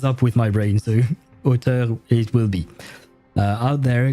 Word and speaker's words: auteur: with the English accent, because this is actually a French word. This is auteur, this word, an author. That's the English word for it, but yeah, auteur. Yeah, I won't try to pronounce it with an English accent when I know it's a French word and I have to pronounce it French.